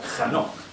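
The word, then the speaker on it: חנוך: dejarnos para nada indiferentes Enoc en hebreo es se escribe con k J Este es el inicio kj anoc o sea hanok vale Y ya sabéis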